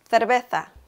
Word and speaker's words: cerveza: For the letter C, you make this sound specifically when you have the vowels E and I, like in cerveza or circo.